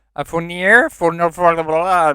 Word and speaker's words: Fournier: yeah, Fournier, Fournier.